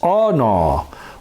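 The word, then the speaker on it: ענה: And it's 6031 in Strong's, and it's aw-naw.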